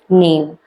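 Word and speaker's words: knave: के साइलेंट होता है। नेव हम इसको प्रोनाउंसिएशन में हम इसको नेव कहते हैं।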